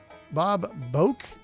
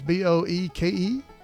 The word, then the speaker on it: Boeke: She's tying the knots with old beau that she had named Bob Boke, I think is how you say his name. It's Boeke.